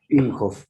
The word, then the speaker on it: Imhof: En realidad es Imhoff, pero lo castellanicé desde la primaria, ¿viste? Así que ya es Imhoff.